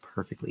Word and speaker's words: perfectly: Is it possible is it possible in American English to pronounce the T in the word perfectly? Yeah, if you are clearly enunciating, there's no problem.